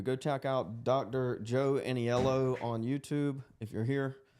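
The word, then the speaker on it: Aniello: Joe Annieello on YouTube if you're here.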